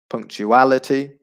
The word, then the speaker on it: punctuality: first syllable okay uh punctuality the stress would be on the second to last syllable punctuality so the syllable which is before the final two syllables generosity again just before